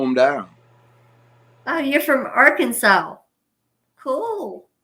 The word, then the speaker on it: Arkansas: Oh, you're from Arkansas. Cool. It's actually pronounced Arkansas, okay?